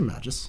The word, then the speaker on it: Magus: I say Magus. Magus? Yeah. Yeah, I think that's probably right. I mean, like magic, but like different ending. Yeah, the first three letters are the same.